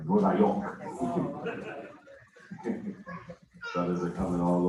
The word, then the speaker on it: Nueva York: That's how you say it in Spanish, by the way, Nueva York.